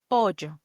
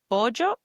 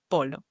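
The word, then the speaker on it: pollo: Another example is pojo. Pojo, which in Spanish means chicken. It's written P O L L O. But you should pronounce it bojo and not polo.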